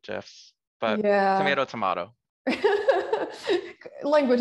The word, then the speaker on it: GIF: lot of moving um gifs gifs gifs i think is technically correct but it still sounds weird to me i think it was just i i heard the creator talk about it with the soft g um so that's how i say it right jeff but yeah